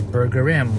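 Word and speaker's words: Burgerim: your name so it's they say it's burger rim like you know toilet rim burger rim anyways I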